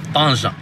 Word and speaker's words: Tanja: I've been saying Tangier. How do you say it? Tanja.